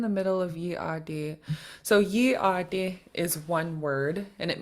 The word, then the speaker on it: yeey.aadí: The period in the middle is to tell you how to pronounce it. So it's called a glottal stop. A period notes where you stop the air while you're speaking.